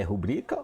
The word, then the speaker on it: rubrica: dúvida aí como é que se fala é rubrika ou pública em fala aí professor a forma